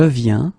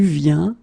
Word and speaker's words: viens: that for the singular you will put this VIEN, and then you will add S for je, S for tu, and T for il, elle. Okay, and phonetically it's it's the same form.